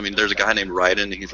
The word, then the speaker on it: Raiden: Oh, no, that was Raiden. Oh, I'm sorry. I'm surprised you actually pronounced it right.